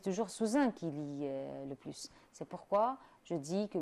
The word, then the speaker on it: plus: Alors, chers étudiants, vous avez bien remarqué qu'avec un adjectif ou bien un adverbe, on ne prononce pas le S dans le mot plus. Je dis, par exemple, Lina est plus jolie que sa sœur, d'accord?